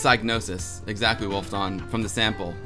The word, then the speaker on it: Psygnosis: Aziboshi II says, why do you native English speaker make the P of Psygnosis silent?